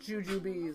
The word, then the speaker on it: Jujubes: Look, it's pronounced Jujubes.